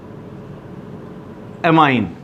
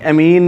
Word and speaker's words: ammine: For example एमाइन, NH3। देखो NH3 ਨੂੰ otherwise ਤੁਸੀਂ अमोनीਆ बोलते हो, पर इनऑर्गेनिक केमिस्ट्री ਦੇ ਵਿੱਚ ਅਸੀਂ ਇਹਨੂੰ एमाइन बोलना, AMMINE, एमीन नहीं, एमाइन।